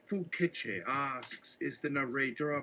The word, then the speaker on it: Foucault: Foucault, pronounced Fouquetche, asks, is the narrator our point of view?